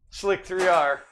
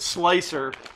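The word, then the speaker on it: Slic3r: About not pronouncing it Slicer, or he's going to start calling Simplify 3D Simplified, and Prusa Prushi, which I think is funny, but.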